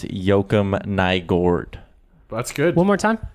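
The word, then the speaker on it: Joakim Nygård: Today on the radio with Low Tide, he says he talked to someone and it's Joakim Nygard.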